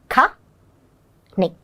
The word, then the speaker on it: canny: So the CA becomes ka. Ka-ni. Canny.